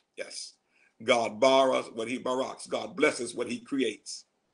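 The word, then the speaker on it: ברך: word for blessed is barack b-a-r-a-k the hebrew word for create create is bara b-a-r-a pronunciations are there god only bharas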